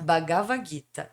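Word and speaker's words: Bhagavad Gita: E é me ajuda na pronúncia Bagvaguita. Bagavagita. Bagavaguita.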